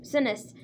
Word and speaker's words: Sinise: And Gary Sinise, I think that's how you pronounce his last name, Sinise, is playing his dad.